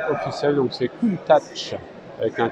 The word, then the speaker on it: Countach: ce cul Lamborghini Countach évidemment notez bien la prononciation officielle donc c'est cool ta touche avec un T une tasse pourquoi parce que